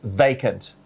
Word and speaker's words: vacant: you the word is vacant vacant V-A-C-A-N-T vacant แปลว่าว่างเปล่า ไม่อ่านว่าวาเคนใช่ไหมอ่านว่า vacant ต้องเป็น vacant vacant yes vacant แปลว่าไม่มีใครอยู่ empty